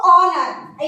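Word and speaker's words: honour: तो ऑनर यानी एच आपका क्या है, साइलेंट है, जब एच साइलेंट है, यहाँ से स्टार्ट हो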